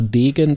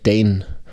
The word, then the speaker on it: Dane: Wir waren irgendwie der Meinung, na, lass doch einfach Degen dazu sagen. Ist aber falsch, wie uns das Ghost Factory Team gesagt hat. Es heißt einfach wohl Dane.